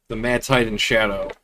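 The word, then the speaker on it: The Mad Titan's Shadow: Uh, I've yesterday attempted to start my first time run doing the I keep saying it wrong. The Mad Titan shadow. That's how you say it.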